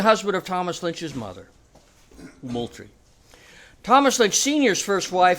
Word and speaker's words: Moultrie: Henry Drayton, General William Moultrie. Note the pronunciation, please, because I'm really tired of hearing civilized South Carolinians say Moultrie. As a graduate of General William Moultrie High School, let's get this name straight.